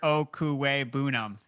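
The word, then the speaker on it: Okwuegbunam: Why don't you try to pronounce the whole thing for me? So it's Albert Okuwe Bunam.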